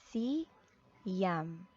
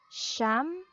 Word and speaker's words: siyam: Siyam, siyam. Or you can also use the sound with sh. Sh. You can pronounce it as sham or siyam.